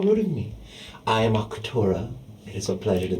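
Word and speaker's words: Arcturia: I am Arctura. It is a pleasure to meet you. How do you spell that?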